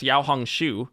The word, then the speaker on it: Xiaohongshu: Well, all these TikTokers have fled to an app called RedNote, which I believe in Chinese is pronounced Xiaohongshu, and for Americans, it seemed